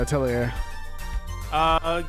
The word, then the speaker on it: Atelier: Is that how you pronounce it? Yeah, Atelier.